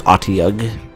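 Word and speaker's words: Otyugh: Pretty sure it's Otiug. Because I remember it's spelled like O-T-Y-U-G or something. And I remember thinking it should be pronounced Otiug or Otiug, but the manual says Otiug, at least I'm pretty sure.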